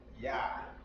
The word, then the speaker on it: Yah: So to pronounce that, that is Yah. Y-A. Just like in our English, Yah. That's how you say Yah in Hebrew.